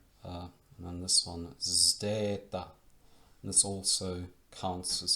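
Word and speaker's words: zeta: And then this one, Zdeta, and this also counts as two letters when it comes to prosody and syllable division. Zdeta, Zdeta, Zdeta, Zdeta.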